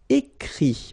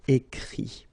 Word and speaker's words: écrit: Écrire, to write, so IRE will give IT, écrit, okay. Remember that even if you've got this final T, you don't pronounce it, so it goes like écrit. Okay, dire, IRE as well,